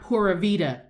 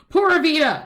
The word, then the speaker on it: pura vida: d a e a is not pura vita pura vida travel agency yeah poor via tours i'm laughing because your ignorance is not conspicuous you sound ridiculous i don't want you to sound ridiculous i don't want you to sound ridiculous it's not poor veda it's pura and that's also colloquial